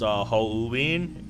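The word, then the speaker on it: Hououin: Decided to explain why it's pronounced Houwin. In Japanese, O is always pronounced as O. U is always pronounced U, and I is always pronounced E.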